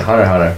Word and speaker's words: Hunter x Hunter: Fuck it, Hunter x Hunter. I'll pronounce it correctly. Hunter x Hunter, Hunter. I didn't realize it was like the X was supposed to be a space in the title until like I rewatched